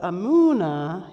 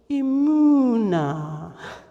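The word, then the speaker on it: אמונה: So if you want to hear the meaning of emunah, you need to say it like braying. So can you do that with me? Emunah.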